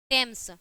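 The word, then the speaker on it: Thames: में क्या होता है अगर टी एच होता है तो उसका जो प्रोनाउंस होता है जो प्रोनाउंस होगा वो क्या होगा ट होता है ठीक है जैसे आपका टेम्स ठीक है यहां पे क्या है टी एच है ना तो यहां पे क्या है टेम्स हो गया ठीक है अब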